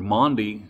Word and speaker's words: Maundy: The name of Thursday in Holy Week is called Maundy Thursday, and that's spelled M-A-U-N-D-Y, Maundy Thursday.